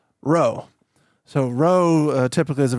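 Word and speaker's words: rho: lowercase letter P but that's actually pronounced row.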